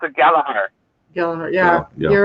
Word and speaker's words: Gallagher: would say this last name is Gallagher, where in Ireland they pronounce it Gallagher.